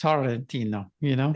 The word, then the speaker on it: Sorrentino: When we were in Italy, here I say my name Sorrentino, right? But in Italy, they roll the R's. It's Sorrentino, So this is Sorrentino.